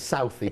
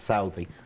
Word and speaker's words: Southey: Some people might pronounce it as Southey, but Chris, the director, and I pronounce it Southey.